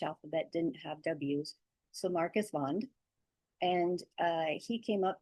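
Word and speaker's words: Marcus Wandt: Uh W's in Swedish are pronounced like V's because for the longest times the Swedish alphabet didn't have W's. So Marcus Vond and uh he came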